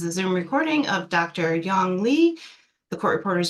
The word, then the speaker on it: Yong: Young Lee. Will you spell that, please?